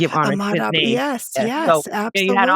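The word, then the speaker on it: Ahmaud Arbery: I said his name and I want to give Ahmad Aubrey.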